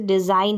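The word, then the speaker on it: design: इसको प्रोनाउंस नहीं करेंगे जैसे डिजाइन है डिजा ग न ग यानी जी को ग पढ़ दिया नहीं यहां पर जी साइलेंट है तो जी एन अगर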